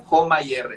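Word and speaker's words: HOMA-IR: hecho detección de resistencia a la insulina con joma y r se escribe h o m a guión y r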